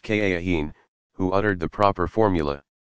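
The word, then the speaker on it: kahin: their secrets to a soothsayer called a cahiim pronounced ka Akeem who uttered the proper formula some of muhammad's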